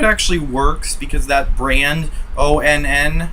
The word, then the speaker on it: ONN: I hope it actually works because that brand, ONN, I think it's pronounced on. It's a stupid way to spell on.